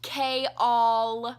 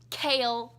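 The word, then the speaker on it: Chaol: and by the way it is pronounced Kay all surging mass proved it it's not Cael it's Kay all she says it's chaos without the us it's Kay all please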